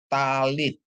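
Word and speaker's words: טַלִּית: terus ada tap Ya tap dikasih patah bacanya ta lamet dikasih hirik Yod bacanya Li ditambah t ya jadi bacanya talit Ya ta Lit ya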